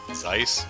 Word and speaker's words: Zeiss: roughly 109 argent length e i makes an i sound so zeiss yeah zeissian horrible engine